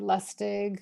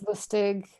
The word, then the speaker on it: Lusztig: My sister, my mother, and I say Lusztig. My father Lusztig. still says Lusztig. We don't care. Okay. It's whatever. It's flexible.